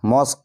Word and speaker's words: mosque: তারপরে দেখো সবশেষ নিয়ম, রুলস নাম্বার 5, শব্দের শেষে যদি QUE থাকে তাহলে এই 3টি বর্ণ একসাথে ক এর মতো উচ্চারণ হয়।